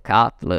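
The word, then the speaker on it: CATL: Cina dall'azienda di batterie si ETL o Cattle a seconda di come la vogliamo pronunciare byd ci sono tanti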